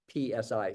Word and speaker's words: psi: Or actually, it starts with the S sound, but we spell it PSI, psi.